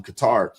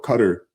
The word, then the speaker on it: Qatar: you know, out in Qatar or Qatar, you know, depending on how you pronounce it, you know, a few years back.